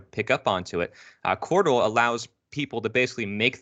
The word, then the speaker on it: Qortal: And now there's new systems being created, like Cordal.